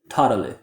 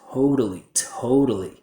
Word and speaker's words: totally: This is a cool word, but I hear a lot of students pronouncing it incorrectly because they don't use a diphthong. Instead, they just use one mouth position. So what I hear is totally, totally, instead of totally, very.